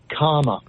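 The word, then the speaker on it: Kamala: you were saying yeah it's comma it's comma like the like comma in a sentence Comm just c m and then La so for right to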